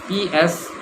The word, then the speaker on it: psychology: It is spelled with a P. P-S-Y-C-H-O-L-O-G-Y. Psychology. A lot of people try to study psychology, and I tell them that you yourself are psychic.